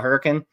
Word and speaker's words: Hurricane: know what that's about same with Hurricane Utah they call it hurricane so when you're down